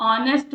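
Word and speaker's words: honest: जैसे मैं ऑनेस्ट बोल रही हूं तो एच इज़ साइलेंट।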